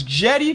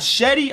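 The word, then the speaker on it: Cedi: most improved player again it's Jetty not Shetty I googled it it says Jenny alright so that's how he pronouncing it Jenny's meatball daddy I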